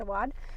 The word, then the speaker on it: Awad: I've always said Awad, but I think it's Awad.